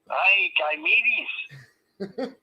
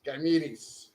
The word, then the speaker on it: Ganymede: Ganymedes. Yes, Ganymedes.